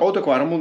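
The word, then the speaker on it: Oude Kwaremont: ¿Lo pronuncio bien? ¿Oude Quaremon? Oude Quaremon, muy bien.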